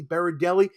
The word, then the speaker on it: Berardelli: my whole life too, Berardelli is not the way it's spelled. I always tell people to pronounce my name as Yogi Berra going to a deli. Berardelli makes people a lot more at ease with saying it.